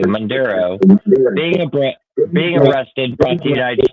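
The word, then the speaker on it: Maduro: So, everyone's talking about Mand uh sorry, I should pronounce it correctly. Manduro being being arrested, brought to the United States, right?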